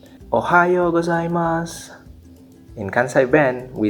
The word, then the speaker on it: Ohayo: In Kansai Ben, we say Ohayo. In common Japanese, we say arigato. In Kansai Ben, we say arigato. In common Japanese, we say ohayo gozaimasu.